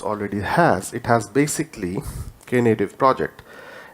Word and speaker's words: Knative: native sorry k native it's pronounced as k native it's basically a native